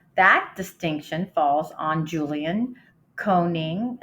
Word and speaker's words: Koenig: Uh, that distinction falls on Julian Coning. It's spelled K O E N I G.